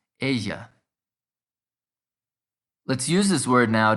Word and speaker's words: ella: this won't be pronounced ella think of the word quesadilla the double l in spanish becomes a ya sound the same as the y in yo so it's asia let's use this word